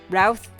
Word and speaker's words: Routh: And you spell that like Routh, like mouth with an R. That's Routh, mouth with an R.